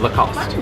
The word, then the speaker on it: Lacoste: what the right name oh the cost the cost so no II don't like lost remember Lacoste or if you